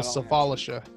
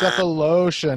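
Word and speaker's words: Sefolosha: Thabo Final Safalisha. Final Final answer. answer, Thaba. It's Cephalosha, not Yeah.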